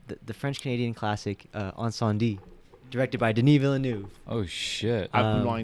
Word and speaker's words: Incendies: this movie uh the french canadian classic uh on sandy directed by denis villeneuve oh